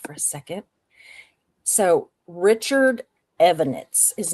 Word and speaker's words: Evonitz: So Richard Evonitz, his name was actually Richard Marc with a C, Evonitz. Evonitz. So, is that how they pronounce it? Evonitz? Yeah.